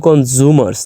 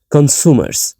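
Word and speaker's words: consumers: ওকে, কনজিউমার্স, ওকে, আমরা সাধারণত কনজিউমার্স বলে অভ্যস্ত, বাট এটা মূলত কনজিউমার্স না, এটা মূলত হচ্ছে কনসুমার্স। এখানে এস উচ্চারণ হবে, আমরা সাধারণত করি না, বাট এখানে উচ্চারণ হবে।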